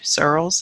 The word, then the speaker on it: Searles: for 2018 recipient recipient cyril's guess is how you print searles is how you pronounce it um so that leaves